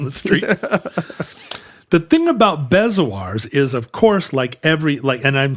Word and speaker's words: bezoar: I think it's straight up bezoar. Rhymes with like Eeyore.